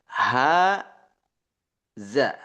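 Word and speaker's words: هذا: Akan tetapi cara membacanya ini panjang ya. Ha za ya. Ha huaza za ha za tapi digabung.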